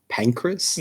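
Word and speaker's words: Pancras: uh Pancress, the place Pancress, like P an N.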